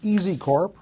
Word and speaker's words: EZCORP: one that we're going to talk about is easy Corp right that's how it's pronounced correct easy PW the ticker symbol on